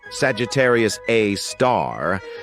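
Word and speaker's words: Sagittarius A*: we've got Sagittarius A which is pronounced Sagittarius A star this space monster is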